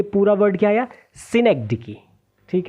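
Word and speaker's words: synecdoche: सिनेग dickey.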